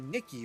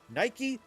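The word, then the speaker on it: NIKKE: Oh no, I also want to bring up another game to prove a point, which is Goddess of Victory Nikki, or Nike? I think that's how you say it.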